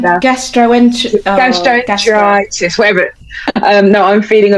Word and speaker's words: gastroenteritis: I always say gastronitis, but it's oh my god, why can't I say it right now? Gastroenteritis, whatever.